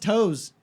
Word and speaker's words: Taos: I've never been a Taos New Mexico I'm driving to Oklahoma next month though really whoa what there a week at the next month it's pronounced toes you're okay it's a